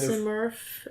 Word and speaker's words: Simurgh: I've heard people say it with like an F sound on the end instead of the G, the hard G, which is kind Simurf.